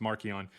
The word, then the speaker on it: Marcion: Marcion pronounced Marchon means little mark and polus just means the small one.